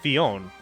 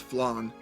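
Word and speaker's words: Flonne: destiny oh nice well i thought it was pronounced fionn from disgaea blown it's an l not an eye oh oh i'm going off i'm going off of uh the way that they pronounced it in the english dub which was flan yeah i was about to say isn't it i was about to say isn't it like flan it's blonde it is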